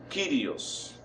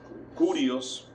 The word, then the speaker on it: Kyrios: Hay algunos que lo pronuncian como Curios, pero creo que tal vez puede ser una mala lectura, creo yo, en el sentido de que como se usa la letra que se parece a una U, pero realmente se lee como I, como la I griega.